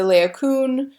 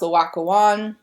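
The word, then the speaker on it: Laocoön: Another statue that I think shows the theatricality angle really well is the Laocoon, or you also hear pronounced Laocoon.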